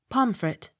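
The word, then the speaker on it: Pontefract: n t e f r a c t pomfret p u g h pew p y t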